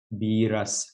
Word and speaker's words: Beerus: So we're gonna ask C137 how to pronounce this correctly. This is Beerus. Beerus.